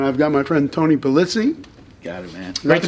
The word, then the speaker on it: Pulizzi: Hey everybody, Norm over here, and I've got my friend Tony Pulizzi. Got it, man. That's how you pronounce it.